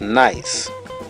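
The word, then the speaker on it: gneiss: our third example is nice the g is silent so nice is a high-grade metamorphosis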